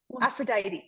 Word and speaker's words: Aphrodite: no okay we have Aphrodite afrod oh you just say it faster kind of Aphrodite Aphrodite yes Aphrodite and we call it aphrod oh a little different the pronunciation is a little different it's so interesting because